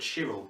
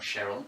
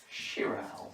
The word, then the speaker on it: chiral: So this video isn't about Cheryl, it's about Chiral. Or Chiral, or Chiral. From now on we're going to call it Cheryl, because we know that's wrong. It's spelled like this, don't we?